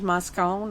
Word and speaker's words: Moscone: very significant impact on the election of george moscone i think that's how you say it as